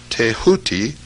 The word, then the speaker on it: Thoth: scribe of the gods Thoth, pronounced Tehuti.